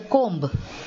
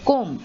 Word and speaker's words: comb: are silent moving on see whether b is silent so you have bomb you have climb you have comb many people say give me the comb but that is wrong